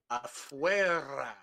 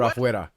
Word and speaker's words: afuera: You don't roll your R's for afuera. There's no rolling R on afuera. Come on. Nope. It just don't sound right. Afuera.